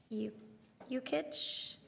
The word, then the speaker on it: Jukic: I told someone once to just think of Yukon.